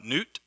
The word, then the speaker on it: Nut: associated with this uh newt it looks it's spelled nut your god's a nut